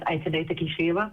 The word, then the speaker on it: Ayten Atakishiyeva: Next up in public testimony is Ayten Atakishiyeva. Thank you for being here. Please proceed. Thank you so much. Thank you so much. Hello, everybody. My name is Ayten Atakishiyeva. Thank you so much for pronouncing my name correctly.